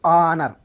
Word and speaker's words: honor: So honor, in this word h is silent. Our, in this word h is silent. Honest, in this word h is silent. I mean honor, we pronounce this word honor.